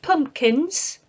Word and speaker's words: pumpkin: the s for plural listen to my pronunciation pumpkin pumpkin I don't say that middle P it doesn't get sounded out pumpkin my mouth forms the but it doesn't speak that pumpkin okay skeleton so